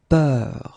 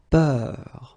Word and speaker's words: peur: have a little bit the same, but it's a bit lighter, more open, and it's peur. Okay, previously it was bleu, so really, really deep, bleu. This one is more open and it's peur, okay, peur.